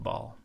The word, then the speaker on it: Baal: a bait Ein lamad not bait alif lamid Bal is actually a Hebrew word that means Lord